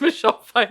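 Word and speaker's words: Pfeiffer: Klein and Michelle Pi there's p in front of the F It's usually the F that you're pronouncing not the P oh Fifer there it's Michelle fer there's a p in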